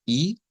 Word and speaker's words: e: Entonces en ese caso vamos a utilizarlo con el sonido no de una e sino de una I así como hemos venido los anteriores la e se convierte en I y suena como el I del español Entonces vamos a decir